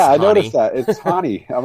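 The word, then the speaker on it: Raoni: He wants to be known as Ronnie, even though it's pronounced I Hani. noticed that. It's Hani.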